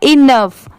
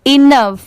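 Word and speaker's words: enough: यह है इनफ। ई एन ओ यू जी एच। इसे हम क्या पढ़ेंगे? इनफ।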